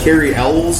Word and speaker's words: Cary Elwes: Cary Elwes, is that how you say his name?